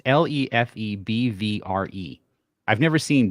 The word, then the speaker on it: Lefebvre: Leffy? No. Lefebvre? Lefebvre? It's Lefebvre.